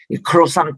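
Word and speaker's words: croissant: 크로상 빵도 그렇잖아요. 그 자체가 크로상트라는 영어인데 그거를 크로상이라고 발음합니다.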